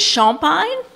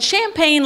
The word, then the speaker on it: Champagne: martinville Louisiana and the correct way to pronounce my name in Lafayette or Acadiana is Sean pine but people in Baton Rouge can't pronounce Sean pine so and champagne like dr.